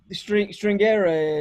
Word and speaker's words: stringere: But in Italian, it would be pronounced stringere. Stringere.